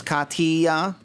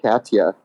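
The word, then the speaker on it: Katya: follow you is is the correct way to pronounce katia's name is because she has she's all about the tea so it's Kaa not Kasha Kaa yeah yeah okay it's k no you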